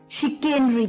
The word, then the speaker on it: chicanery: तो चलिए, द 14th word for the evening was, well, इसकी जो मैंने बताया था प्रोनाउंसिएशन थोड़ी सी अटपटी है, पर मुझे बिल्कुल पता है कि आप भी कर लेंगे। शिकेनरी था, शिकेनरी, ठीक है, शिकेनरी, CHICANERY, शिकेनरी, CHICANERY,